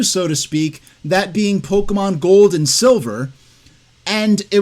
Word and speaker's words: Pokémon: don't have it nailed down exactly how to pronounce the madeup word Pokemon so here the actress is um saying Pokemon when it's officially pronounced Pokemon and the first